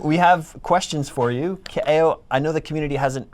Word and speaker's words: Kaeo: Kaeo is Hawaiian, so his name is Kaeo. Some people call him Ko. That's wrong. Don't do that.